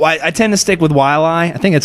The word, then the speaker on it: Waialae: Well, no, I tend to stick with Waialae. I think that's how you say it. Okay. Waialae. I like Waialae.